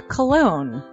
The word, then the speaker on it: Colon: It is a self-published book by Christopher Colon. Chris Colon? Smells good to me. But look at her. That broke that fucking cold little exterior. He's like, hee. But it is spelled C-O-L-O-N.